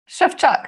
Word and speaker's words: Szewczak: Szewczak, yeah, perfect. You did it really well. Fine. Yeah, perfect there pronunciation.